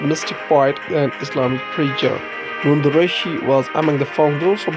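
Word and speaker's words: Nund Rishi: At last, it is a famous quotation said by Nundurishi, Kashmiri pronunciation Nundurishi, was born on 1377 after 1438.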